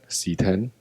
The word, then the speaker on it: CX: as 10 series but the 10 is written in Roman numerals so it will be p x CX g x WX set